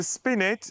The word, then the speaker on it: spinet: to just save myself here how do I pronounce that word spin spin what is it spst so spinet is a a form of harpsicle normally a